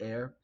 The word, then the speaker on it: heir: a valorous hair air it's pronounced air but it's like the root of hierarchies kind of right heir heir of the throne